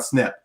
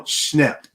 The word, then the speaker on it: Schnepp: today everybody and yeah i'm i'm accentuating his name because i don't want to make it sound like i'm saying john snip no schnapp otherwise if you if